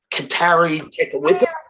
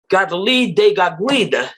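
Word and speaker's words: Kateri Tekakwitha: The other thing is, that's not how you pronounce it. If you want to have your parish, her name is Gadali de Gaguida. It's not Katali Tekawitha.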